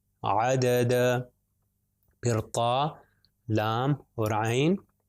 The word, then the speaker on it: عدد: پاس ہے عین، دال اور دال، د د، عدد، عدد۔ پھر طا، لام اور عین، طا کے اوپر